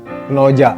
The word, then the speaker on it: Knowjack: Itu tamu saya ada dari teman-teman dari komunitas kalau tulisannya sih Knowjack gitu ya. Nah, jadi tapi kalau lafaznya atau juga spellingnya itu bacanya Knoja ya.